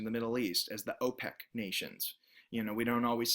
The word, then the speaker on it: OPEC: Most people recognize these countries, typically in the Middle East, as OPEC. So there's another one, O and then the word PEC, because we actually use the word in order to understand the acronym.